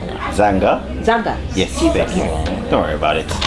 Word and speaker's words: Zaanga: say and today we have a new member zanji zanga zanga yes don't worry about it zi oopsie it's